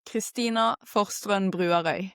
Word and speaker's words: Christina Forstrønen Bruarøy: Okay, in Norway, I would say it like Christina Forstrønen Bruarøy. Yeah. No, but you have the R. So it's a lot of R's in the name.